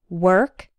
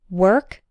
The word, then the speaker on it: work: word rhymes with bird work rhymes with perk and worst rhymes with